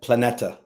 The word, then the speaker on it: Planeta: Um, and correct me again if I'm pronouncing the name of the book right. It's Planeta. Yeah. Planeta.